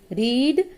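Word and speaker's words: read: ही हैड रेड, रीड, रेड, रेड spelling वही होती है लेकिन उसको प्रोनाउंस रेड करते हैं।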